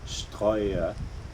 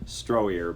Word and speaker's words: Stroya: led by Sunny, and I hope I pronounce her last name correctly, Stroya, which I think to most English speakers in the States would just be pronounced Stroyer, but she's German.